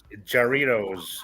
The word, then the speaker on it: Jarritos: Jarritos is a way, but it's pronounced with the H because it's J is H in Spanish.